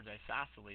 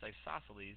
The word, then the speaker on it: isosceles: look at this guy and isosceles triangle or Die sassily is isosceles if you ever need to spell it pronounced that isosceles it's actually pronounced isosceles but that's an easy way to remember that